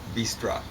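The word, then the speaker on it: быстро: And it Russians tend to say in an unaccented syllable at the end of a word, O as bistra.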